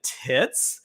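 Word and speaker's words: Titz: I was like unaa tits yeah that's supposed to be her real name yeah so it's spelled TI TZ researcher and Analyst at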